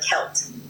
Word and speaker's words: Celt: The pronunciation of Celt should be with a hard K sound like Celt.